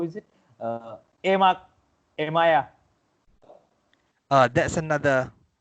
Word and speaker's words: emak: Emak. Emaya. That's another E. Because we pronunciation have is okay, right?